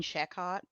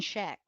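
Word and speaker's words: Schaech: If any lady out there used to find Jonathan Shehott, who? I know. Wait. Wait. Oh, is it like sketchy? Is that how it's spelled? No, it's Jonathan Sheek.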